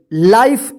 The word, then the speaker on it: life: तो चलिए यहां पे देखिए यहां पे LIFE, इसको क्या पढ़ेंगे, लाइफ, इसको लीफे मत पढ़िएगा या विफे मत पढ़िएगा, वाइफ, लाइफ होगा, ठीक है ना।